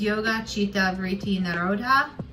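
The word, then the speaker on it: yogaś citta vṛtti nirodhaḥ: And it is the Sanskrit pronunciation is yoga, chitta, vritti, nirodhah.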